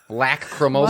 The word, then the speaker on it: Lacrimosa: confident it's called Lacrimosa. Lock, not lack. Lacrimosa. Lacrimosa. Well, it's an A, not an Lack.